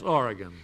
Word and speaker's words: Oregon: Mabel Wheatley of Astoria, Oregon. Did I pronounce that correctly, Miss Wheatley? Yes, Oregon.